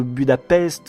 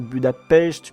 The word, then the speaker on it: Budapest: Mais bon, du coup, c'est juste que rétrospectivement dans Avengers, quand on parle de Budapest, Black Widow devrait plutôt dire Budapest puisqu'elle sait qu'on doit prononcer comme ça.